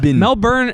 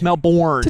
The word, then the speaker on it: Melbourne: my stance on this melin is how people say it with an Australian accent melburn melb bur look Matrix is like how an American would say it and then the incorrect pronunciation is Melbourne town I think that's how